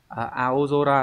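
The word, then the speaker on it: 青空: Hay là từ aozora là bầu trời xanh. Tiếp theo nó sẽ đọc là kara.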